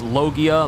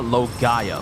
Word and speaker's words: Logia: The same way I've heard people pronounce Logia, Logaya for some reason. Why did I say region? But some people I've known have pronounced Logia as Logaya, and I was thinking, that's a bit much.